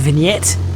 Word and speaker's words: vignette: caused by a lens so it's a it's pronounced vignette effects so that affects all around the lens